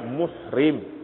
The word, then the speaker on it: muhrim: Rumi ketara baris itu jadi yang Betulnya dalam dalam nikah nama kita sebutnya mahram mahram jamaknya maharim mahram kalau orang yang sedang ihram bacanya muhrim ini mahram hat alikum ummahatukum